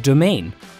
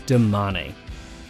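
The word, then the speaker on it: Domane: look at their endurance bike is it a domain or a demane for the record it's damanei when it comes to its all-round race bike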